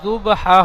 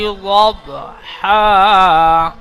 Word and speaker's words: ضبحا: ওয়াল আদিয়াতি যুবহা হবে না, দব যদ বা জাবার দব। এই দদ অক্ষরটি উচ্চারণ করবার সময় আওয়াজটি ضب এমনটাই হবে, গাল ভরে আওয়াজ হবে লব। ওয়াল আদিয়াতি দবহা।